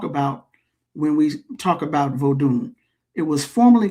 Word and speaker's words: Vodun: o u comes from or vodu v o du n. The n is usually silent voodoo but we call it new African vod.